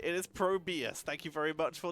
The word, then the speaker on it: ProBUs: It's apparently, it is pronounced ProBUs. I missed the capital U. So it is ProBUs. Oh man, by 2 people. Feels bad. Yep, double call out. You're right. You're right. It is ProBUs.